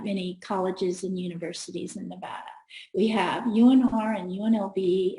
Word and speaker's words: Nevada: But here where I live right now, people often say Nevada. Now, at home, they would get booed off the stage. Like, say it right. We got sheep. It's Nevada. Do not say Nevada, okay?